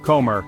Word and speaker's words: comer: The stress is naturally on the last syllable. For example, ciudad, city, comer, to eat.